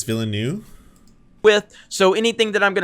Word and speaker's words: Villeneuve: It's not Villeneuve, it's Villeneuve.